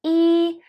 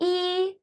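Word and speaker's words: 一: Chinese were e one we used to pronouncing e with the first tone however did you know that e can be with the second and four Stones as well how does it work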